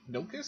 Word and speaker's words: Nilkus: Am I saying that right? Nilkus? Yeah, no, that's right. Okay. Nilkus, that's right.